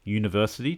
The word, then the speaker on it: university: vowel sound or not university despite starting with a vowel has a sound of the letter y u as in you are